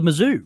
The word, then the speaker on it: Mizzou: The Mizzou. The Mizzou. It's like Kalamazoo, so I should remember that because that's a place.